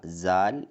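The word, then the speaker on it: ذال: എന്നാൽ ഉറുദുവിൽ സാൽ എന്നാണ് ഉച്ചരിക്കേണ്ടത്. സാൽ എന്നാണ് ഈ അക്ഷരം അറിയപ്പെടുന്നത്. ദാൽ എഴുതി ദാലിന് മുകളിൽ ഒരു പുള്ളിയിടുക. എല്ലാവരും ഇത് നോക്കി സാൽ എന്ന് എഴുതി നോക്കൂ.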